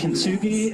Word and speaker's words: Kintsugi: But then a couple of you also sent me this idea, and I can't remember and pronounce the name, but it's Japanese art form. Yes. Kintsugi, am I close?